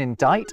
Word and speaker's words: indict: They would have never to be pronounced B in plumber, a mute C in indict, a ludicrous L in salmon, and a stupidly silent S in isle.